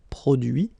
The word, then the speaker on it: produit: Introduire, introduit, produire, produit, réduire, réduit, séduire, séduit, traduire, traduit. Okay, so the same rule because, well, basically it's the same group and then same rule, final T not pronounced, so introduit, produit, réduit, séduit, traduit.